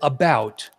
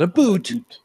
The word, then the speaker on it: about: I speak English and French, not American, and I pronounce it about, not a boot, about.